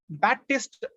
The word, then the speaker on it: Baptiste: அவரோட உண்மையான பேர் வந்து ஜான் பேப்டிஸ்ட் பொக்விலின், அதாவது JEAN, அது வந்து ஜான் அப்படின்னு ப்ரொனவுன்ஸ் பண்றோம். பேப்டிஸ்ட் நடுவுல இருக்கிற பி வந்து சைலண்ட், BAPTISTE, அதுல பி வந்து சைலண்ட்.